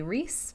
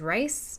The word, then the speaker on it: Rhys: they break it up, would be Rhys, because rice doesn't make sense. Rhysand would, I guess, be fine, but rice is a little weird. Why wouldn't you call him Rye if his name was Rhysand? But Rhys sounds fine. So I call him Rhys.